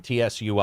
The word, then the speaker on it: Tsui: Super chats, $20 super chat from, I think is his name, TSUI. I think it's the T is silent.